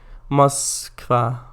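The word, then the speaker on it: Москва: It is Kangafango, pronounced Moskva.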